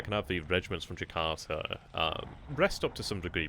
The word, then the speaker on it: Jakarta: Oh, that's how you pronounce it, Jakarta, okay. It doesn't quite look like it, but when you hear about it, it's like Jakarta.